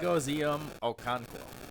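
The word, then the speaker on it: Chigoziem Okonkwo: I can't pronounce his name, but Chig. like he's like a receiver at tight end. Chigozium Okonkwo.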